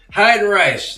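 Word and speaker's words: Heidenreich: Hide and Rash like the old wrestler. Hide and hide and right.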